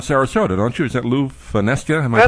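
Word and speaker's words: Lew Fonesca: that's based around Sarasota don't you is that Lou fesa am I pronouncing that right you got it right okay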